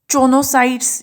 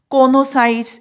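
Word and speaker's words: choanocytes: So, inside, you can see here the next chonocytes, you can pronounce it conocytes as you wish.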